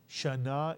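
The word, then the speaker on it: שָׁנָה: word shaah means year shaana is how you say year in Hebrew and if we add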